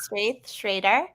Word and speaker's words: Straith Schreder: parents went all in on the alliteration it's straight Schrader yeah okay perfect and um tell me about